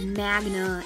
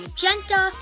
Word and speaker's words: magenta: said like she said magna and that is that it's actually magenta i thought it was magneta and i was calling